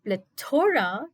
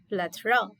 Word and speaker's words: plethora: The correct way of pronunciation for this word is plethora. The word is plethora and not plethora. If you place the stress on the word toe, it's incorrect. The stress has to be on play, and again it is